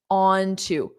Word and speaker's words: onto: Notice how I pronounce onto, onto something, onto something. So it's an unstressed onto something.